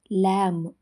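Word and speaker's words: lamb: ಇಲ್ಲಿ B silent ಆಗಿದೆ ಲ್ಯಾಮ್ ಕುರಿಮರಿ ಇಲ್ಲೂ ಬಿ ಸೈಲೆಂಟ್ ಆಗಿದೆ ತಮ್ ಹೆಬ್ಬೆರಳು ಟಿಹಚ್ ಯುಎಂಬಿ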